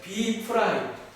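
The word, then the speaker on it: B′: 보통 읽을 때 B 그냥 한국말로 써드릴게요. B 프라임이라고 읽으시면 돼요. B 프라임.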